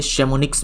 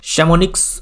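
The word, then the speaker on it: Chamonix: शैमोनिक्स मैंने यहाँ पे लिखा हुआ है बट इसका प्रोनाउंसिएशन शैमोनी होता है केवल, तो आप चाहो तो एक्स को साइलेंट कर सकते हो, या फिर आप पूरा याद रखो शैमोनिक्स, पूरा बोल सकते हो शैमोनिक्स।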